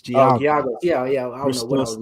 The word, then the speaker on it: Giagos: And then okay, there you Christos Gagelos, yeah. Yes, the Greek guy. Yes. Mm-hmm. Yeah, the Spartan, man. He's a solid Giagos, say it right. It's Giagos.